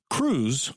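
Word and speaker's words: krewes: way they do because civic groups called crews make it happen cruz which is spelled e k-r-e-w-e-s started out as sort of secret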